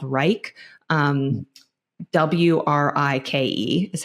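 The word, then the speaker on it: Wrike: process I use a project management software called Reich um wri I ke is how it's spelled and we built out a full template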